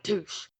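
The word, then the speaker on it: Touche: former accountant at deoe touch who helped uncover cheating huh the like douche that rhymes with douche which could describe our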